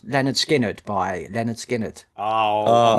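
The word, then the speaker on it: Lynyrd Skynyrd: So my pick is pronounced Leonard Skinnerd by Leonard Skinnerd.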